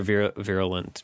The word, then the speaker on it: virulent: Oh, no, okay, I was right. Virulent. That's how you're supposed to pronounce it.